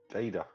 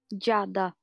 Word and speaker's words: Giada: Like the first time I came in Scotland, they call me Giada Giada. because my name is spelled G-I-A. Gaida. Jada.